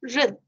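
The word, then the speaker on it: 仁: And the Chinese word is pronounced as ren, which is made up of two parts, as you can see.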